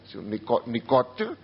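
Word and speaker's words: Nicot: Δόθηκε προς τιμήν ενός Γάλλου που καλλιέργησε το φυτό αυτό, που ελέγεται νικοτίν, νικότ, ταφ, αλλά δεν προφέρεται γιατί δεν έχει έψιλον στο τέλος, νικότ, νικοτίνη.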